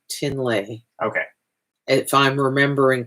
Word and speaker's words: Trinley: Her name is spelled Trinley, but it's actually pronounced Tinley.